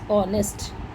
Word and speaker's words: honest: H says her, but your H is silent, so we read it as honest.